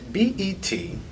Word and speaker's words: Betlesky: Now, your last name is Betlesky. That is correct. I'm impressed. Thank you. I'm curious, what is the most egregious pronunciation of your name that you've heard?